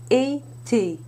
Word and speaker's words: été: When the E has an accent aigu, it is pronounced E. Répétez s'il vous plaît. Été.